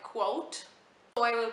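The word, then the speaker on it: Kvothe: boy named quote uh I read somewhere that it was pronounced like quote so I will pronounce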